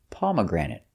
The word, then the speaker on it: pomegranate: and the pronunciation is pomegranate pomegranate stresses on the first pom granate and third syllable pomagranate pomegranate it's a